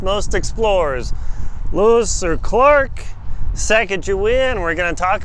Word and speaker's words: Sacagawea: We've got the Sacagawea, or some pronounce it Sacagawea. I'll call it Sacagawea. You can deal with it if you don't like that.